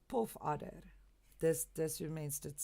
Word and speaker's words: puff adder: this is pronounced because it's not puff adder it's not a puff adder no no that's not what it is it's a poof order this this remains let's